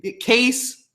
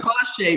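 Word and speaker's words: Kase: then we have guys like how do you pronounce his name case Chase cache a hard shot like that awesome gosh a but it's spelled case so that's why I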